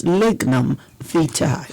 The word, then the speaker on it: lignum vitae: such modern technology today, there's no English equivalent of the V. So and for me, that is exactly why we struggle to pronounce V. We have a very, very difficult time pronouncing that V. So we pronounce it well, I guess As a W.